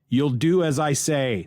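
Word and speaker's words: Yooldoo Azaye: see it to understand it's y-o-o-l-d-o-o a-z-a-y-e you'll do as i say that's that's the name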